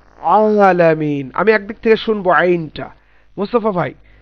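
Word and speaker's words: ع: হা এবং আইন একই জায়গা থেকে উচ্চারিত হবে, কণ্ঠনালীর মধ্যভাগ হতে। তাহলে আমরা যেমন আলহামদুলিল্লাহি রাব্বিল আলামিন, আমি একদিক থেকে শুনবো আইনটা।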